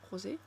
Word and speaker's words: Rosé: C'est parce que je sais que dans le groupe tu as Lisa Rosé ou Rose ? Rosé hein. Rosé c'est Black Pink.